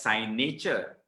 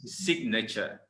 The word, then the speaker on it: signature: other word nature so other people tend to pronounce it as sign nature okay sign nature or sign nature okay both i would have to say good try okay because the actual pronunciation is signature okay signature now this